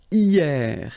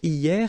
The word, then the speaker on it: hier: And then the first one is hier. Hier means yesterday, okay? Hier. So remember, this H here is not pronounced, okay?